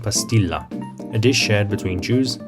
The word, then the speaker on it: pastilla: the dish is popular the dish is called bastilla with an initial b and aulalized whereas safari jews speaking ladina and l kattia preserve the p pronunciation calling it pastill a name which has survived